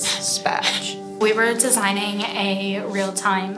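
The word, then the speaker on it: SPA²J: The squared is silent, so it says SPATCH.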